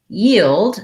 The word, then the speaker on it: yield: couple of times but yield is the same pattern where i have the yu sound and then the e tens eval and this combination is